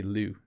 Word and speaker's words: lieu: um very rare and we probably pronounce it wrong i apologize to all the french people in english we say liu not i think it would be have a little more of a french sound um when you're in